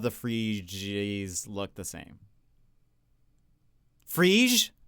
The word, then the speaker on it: Phryge: Phryge? Oh, it's one syllable.